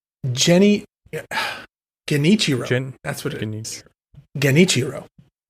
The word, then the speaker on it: Genichiro: And you have, again, another person from NWO Revenge, Saladin, who is Genrichio. Oh my god, I know how to say his name, but I can't say his name. Genichiro.